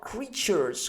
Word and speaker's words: creatures: Pensate a parole anche come nature, la natura, la scriviamo nature, giusto? Nature, ma pronunciamo nature. La stessa cosa quando abbiamo ture preceduto da vocale creatures, ok? Stessa cosa, o addirittura creatures, ok?